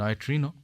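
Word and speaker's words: neutrino: তো এই কণার মধ্যে একেবারে অকিঞ্চিতকর একেবারে একটি কণা, সেটা হচ্ছে নিউট্রিনো। অনেকে উচ্চারণ করেন নয়ট্রিনো।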